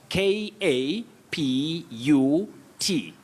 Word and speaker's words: kaput: I'm now talking about ka pu t when something is not you know incorrect you know order and all that we say kaput kaput the car is kaput no pot kaput it's an informal word